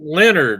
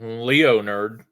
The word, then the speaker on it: Leonard: spelled my name wrong yeah I'm Leonard not Leo nerd yeah and it's funny